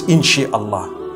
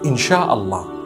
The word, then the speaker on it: inshallah: in means to create no one says in Allah they say inshallah that's what it is